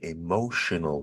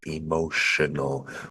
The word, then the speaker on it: emotional: power is a very emotional word we've got a t in the spelling of emotional but the pronunciation is most definitely s h sh so crazy English spelling